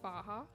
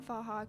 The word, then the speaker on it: Faha: It's about a town in Ireland named, I think it's pronounced Faha, at least that's how I've been saying it. It's F-A-H-A.